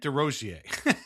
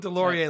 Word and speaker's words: Desrosiers: I called him Delorier last time. Well, no, because I'm the guy who keeps getting mad at people who can't pronounce Bugner. So I can't be out here mispronouncing Desrosiers' name by calling him Delorier.